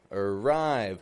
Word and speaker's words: arrive: that's not awah arrive arrive ah again I'm not saying arrive or arrive but uh AR arve weak strong about to arrive about